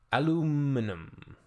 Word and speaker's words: aluminum: This person took issue with the spelling and pronunciation of aluminum, based entirely on the false claim that it was invented by an American.